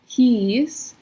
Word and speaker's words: hieß: So IE is E, hieß, and EI is I, like Einstein.